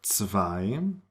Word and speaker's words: zwei: Some examples are zwei, 10, zum, Zug, Zeit. So you see that even when a word starts with a Z or a Z, it is pronounced like TS, ts.